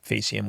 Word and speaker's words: faecium: are Enterococcus faecalis, which is annoying that they pronounce that one with a hard C and then faecium, which we'll talk about in a second with a soft, but that's just the way it is.